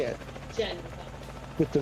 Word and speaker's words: Genova: And then Genova. I said it right? Yes. There's a V, right? There's a V. And there are two cities, Genova and Genoa.